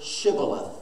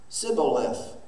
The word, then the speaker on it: shibboleth: not then they would say the word shibboleth and the man said sibboleth for he could not pronounce it correctly then that was the